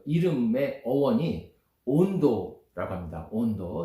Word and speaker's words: Hondo: 온도. 스페인어로는 HONDO. H 발음 안 하기 때문에 온도라고 있는데, 온도는 깊다는 뜻이에요.